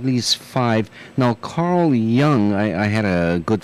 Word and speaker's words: Jung: uh archetypes at least least five now Carl Young I I had a good friend and I as you mentioned his name it's I'm I'm sure it's uh Carl Young who was associated with uh who's that other